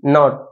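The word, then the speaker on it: knee: কে এন ও টি নট এবার কে নামাতিবো কে silent not মাতিবো নট মানে রসির গিরা রসির গিরা হদে নট কে N double E নিবা তো কে আবার সাইলেন্ট নি পরিব নি মানে আড় পদে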